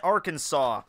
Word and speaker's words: Arkansas: Lightning from Arkansas. It's pronounced Arkansas, you idiot.